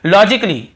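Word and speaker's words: logically: नहीं हो रहा है और देखिए लॉजिकली लॉजिकली यहां पर भी ए को हम नहीं पढ़ रहे हैं फिर देखिए क्रिटिकली क्या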